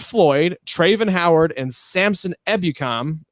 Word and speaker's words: Ebukam: Traven Howard, and Samson Ebukam. Ebukam? You said it right the first time.